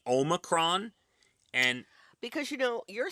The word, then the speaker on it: Omicron: It's how do you not know it's Omicron?